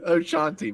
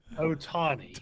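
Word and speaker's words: Ohtani: Oshanti, but it's or not Oshanti.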